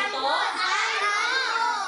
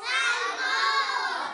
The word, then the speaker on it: salmon: Salmon. Ulitin yan. Salmon. Okay. Sa tagalog binabasa natin itong salmon. Pero ang basa nito sa English ay salmon. Salmon. Okay. Silent l. Ibig sabihin ang L ay walang tunog.